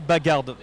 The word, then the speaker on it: Bag'Hard: Donc la bagarde ça a prononcé avec le D à la fin de bagarde donc on dit bagarde.